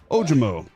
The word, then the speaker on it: Ojomo: I thought the J could be pronounced as an H. And I've mispronounced it, I believe, because the J, I turned around. Much like A.J. Brown, the J is pronounced.